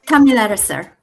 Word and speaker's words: Thamilaraser: How do you pronounce her name? Thamilaraser.